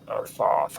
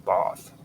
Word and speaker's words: Thoth: Now, Tuathis is Toith or Thoith or Thoth. I call him Thoth, but there's different ways that you can say it: Tuathis or Tuatis. You can pronounce it any way you want.